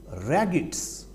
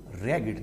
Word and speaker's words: ragged: He looked at the raggeds. Mark the pronunciation of this word. This word is pronounced as ragged, not ragged.